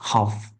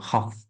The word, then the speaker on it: half: And pronunciation of this word is not half, it's just half. L is silent letter here, half, half.